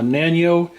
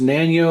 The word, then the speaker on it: Nanao: I'm not sure if it's pronounced Nanao or Nano or however you want to say it, because it's actually N-A-N-A-O, as you can see there. I've always just said Nanao. I've never heard anybody actually pronounce it.